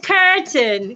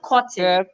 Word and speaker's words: curtain: just left that country it's curtain curtain not cotton hunting could be putting